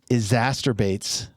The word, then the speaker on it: exacerbates: It exacerbates.